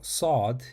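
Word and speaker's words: ص: Shen s do now sod is different from scene in fact it is a deep emphatic version of the letter scene to pronounce it you have to place your tongue close to the roof of your mouth just behind your upper teeth and then tighten your throat slightly to create a heavier deeper sound like s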